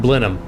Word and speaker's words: Blenheim: oh how what is the proper way to say Blenheim I got to touch a red neck in there too so it probably butchers it even more more like Blum okay that makes sense